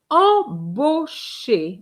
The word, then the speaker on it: embauché: E N or E M is the same sound. Is on. Not em. Okay? Embau bau Why? Because A U gives you the sound o and ché.